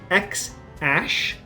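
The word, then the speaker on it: X Æ: You actually pronounce it X-Ash.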